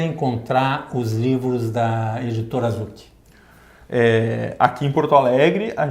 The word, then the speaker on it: Zouk: O Zucchi se escreve Z-O-U-K.